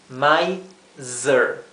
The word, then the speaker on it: miser: una I larga sheit miser tacaño el mismo ejemplo de la s entre medio de dos vocales miser Z Z my zer si les cuesta la pronunciación traten de eh separar bien las sílabas my zer bien ahora hay muchas